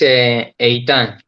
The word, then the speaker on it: Eitan: It's Eitan in Hebrew.